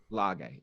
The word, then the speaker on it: Lage: Lage.